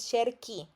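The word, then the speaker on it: cerchi: termina en c i, entonces dicen como sherchi, pero no es sherchi, es shery, porque el verbo es sher care y debe de mantener la misma pronunciación de su nombre en infinitivo.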